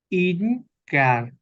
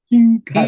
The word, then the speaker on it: hincar: o cuáles incar, Hin. incar, Hincar, incar, correcto. Vemos que la F se pronuncia como una H, como en inglés.